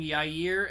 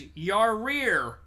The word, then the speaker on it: Yair: The one thing that was mildly distracting but hilarious is Chael kept pronouncing Yair as Yarir.